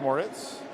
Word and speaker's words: Moritz: Pronounced Moritz.